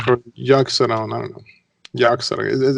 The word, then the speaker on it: Yogg-Saron: Yogg-Saron.